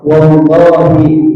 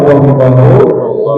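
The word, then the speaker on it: والله: Tapi kalau dibacanya dengan kasrah wallahi billahi itu menjadi huruf sumpah.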